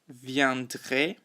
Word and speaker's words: viendraient: So the girls, les filles, viendraient. Notice the pronunciation there. We don't pronounce that NT.